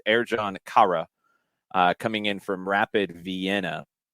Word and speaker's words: Ercan Kara: And the pronunciation that Orlando has given us, thank you, Orlando City, for putting this in your press release, Ercan Kara. Ercan Kara.